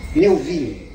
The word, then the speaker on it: Melville: Como é que se pronuncia? Melville.